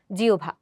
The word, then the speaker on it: জিহ্বা: এই কারণে আমরা এটার উচ্চারণ ওভ না করে আমরা এটার উচ্চারণ করছি হচ্ছে উভ অর্থাৎ জিওভা।